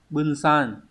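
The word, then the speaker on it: 分散: Số 3 chúng ta có chữ Hán là chữ phân và chữ tán, đọc là bunsan.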